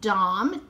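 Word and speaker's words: Dam: and so this one has the markings it's pronounced dom d-a-m and so but look at her hair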